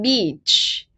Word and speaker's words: beach: really sensitive word guys so you say beach beach okay it's a long vowel sound so try to pronounce it a little bit stronger you say okay